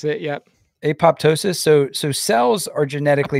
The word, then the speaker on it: apoptosis: it's called apoptosis is that how you say apoptosis that's how I was going to pronounce it yeah apoptosis so so cells are genetically progam yeah you